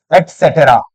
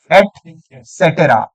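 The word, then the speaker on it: et cetera: अगर मैं इसकी फुल फॉर्म बताता हूं आपको तो this is what, this is एटसेटेरा। Read it, एटसेटेरा, एटसेटेरा, ना कि एटसेट्रा, एटसेटेरा।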